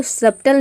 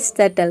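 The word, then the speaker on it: subtle: अब देखिए, यहाँ पे इसको सब्टल नहीं प्रोनाउंस करते हैं, इसको प्रोनाउंस करते हैं सटल, क्योंकि बी के बाद टी आ रहा है, बी यहाँ पे साइलेंट है।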